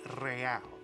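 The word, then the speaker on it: réal: You owe me 130 real. pronounced with an R with a mock aristocratic accent.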